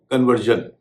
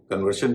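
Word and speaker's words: conversion: कुछ शब्द ऐसे हैं जिनमें आर बीच में है, यानी आर के बाद SION है, वहां पर शन और जन दोनों उच्चारण चलते हैं। जैसे कन्वर्जन, कन्वर्शन भी होता है, कन्वर्जन भी होता है।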